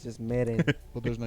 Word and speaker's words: Meren: Meren Gaming. You can see the light bulb turn on. Spell it, please. MEREN Gaming. Okay, like merengue.